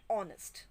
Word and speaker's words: honest: and before are and honest when we pronounce these words h remains silent we use the article